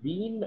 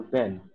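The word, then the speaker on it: been: By the way, sir, you can pronounce it Bean or Ben, both.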